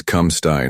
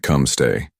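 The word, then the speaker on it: come stai: It's come sty not come stay.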